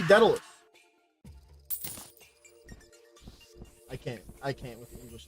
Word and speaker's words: Daedalus: The A becomes before the E. The thing is that I literally just put it into Google and told it to pronounce it to me. And then so it's apparently actually not daedalus. That's how I would assume it should have been, but no, it just had to be daedalus.